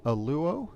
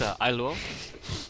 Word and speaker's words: Ailuo: And we have Aluo here. Did I pronounce that correctly, sir? It's Ailuo, so Okay. close enough, no problem.